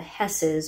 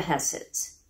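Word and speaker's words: Höss: The Dahls are based on the Hesses or Husses. It's spelled H-O-S-S in German and H-E-S-S when it's Americanized. So I'm going to go with Hess.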